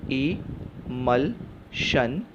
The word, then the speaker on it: emulsion: Next हिस्सा MUL को ऐसा ही छोड़ देते हैं क्योंकि लास्ट हिस्सा SION शन इज़ a tell, so the pronunciation is इमल्शन, इमल्शन।